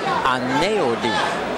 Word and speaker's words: Aneudi: There's that L sound. There's an L sound that comes out from the EU because his name is spelled A-N-E-U-D-I. Right. And the EU makes an L sound when he says it.